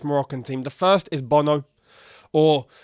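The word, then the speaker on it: Bounou: about in this Moroccan team the first is Bono or bunu as his name is actually pronounced I think his name is Yasin bunu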